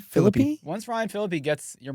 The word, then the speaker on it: Philippe: Once Ryan Phil, how do you pronounce the last name? Philippy.